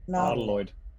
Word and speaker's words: nautiloid: Nautiloid. Like nautilus, like a nautilus shell, Okay.